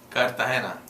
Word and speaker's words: Cartagena: Portuguese people say Gina, but they, you know, the Spanish, they want to roll that G right out the door.